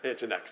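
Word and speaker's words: nginx: this is jinx so wait how do you pronounce engine X engine X oh God bam got me all right let's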